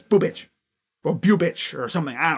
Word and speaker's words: Bubic: So, in his career, Chris Bubich sounds so weird.